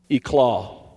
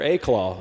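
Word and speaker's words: éclat: The second word, eclaw. That's right. I use an SAT word here. E-claw or aclaw, some would say, is spelled E L A T.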